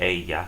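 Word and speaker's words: ella: pronoun would be she in Spanish pronounce that Aya say it for me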